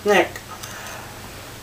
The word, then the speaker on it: SNCC: Nonviolent C engaging Community which is Snick uh SNCC with pronounced Snick the freedom wiers follows